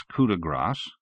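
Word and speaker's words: coup de grâce: in late February when he used the phrase coup de grass he pronounced it grass and in March he pronounced it from the steel doored cabinet she brought forth a chart with entries which she now consulted March 12th pronounced it coup de gras then in April on the 15th it was grass again she glanced up alertly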